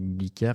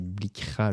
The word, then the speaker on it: Blikra: Je dis Blikar, mais c'est Blikra, le pauvre.